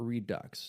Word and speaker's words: Redux: versions and then also the redo or Redux depending on how you would like to pronounce it and hit that hard X or hit the redo like it's supposed to be said so the game was